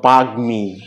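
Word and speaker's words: বাগ্মী: যেমন যদি আমরা গ এর সাথে মফলা যুক্ত করি এরকম শব্দ যেমন বাগমি বাগমি যুগ্ম যুগ্ম কারণ গ এর সাথে মফলা যুক্ত হয়েছে এজন্য ম এর উচ্চারণটা আছে অনুরূপ হবে যদি দন্তান ন এর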